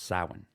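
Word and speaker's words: Samhain: you're not Irish which is why I can pronounce saan oh wow do it again sa that's hot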